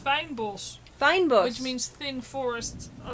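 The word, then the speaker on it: fynbos: It's actually pronounced fijnbos.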